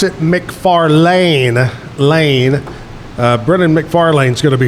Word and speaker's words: McFarlane: Coming up in, probably about 12, 13, 14 minutes, Brennon, you pronounce it McFarlane, Brennon McFarlane's going to be here to entertain us with music in the 9 o'clock hour.